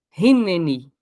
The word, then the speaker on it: Hineni: precisamos dizer eis-me aqui essa palavra Hebraica de hoje é Rin tá com H ali mas pronuncia-se R rinen eis-me aqui tem alguns